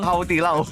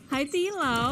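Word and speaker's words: Haidilao: Haudilau. Apa bacanya? Haitilau. Nah, Haitilau.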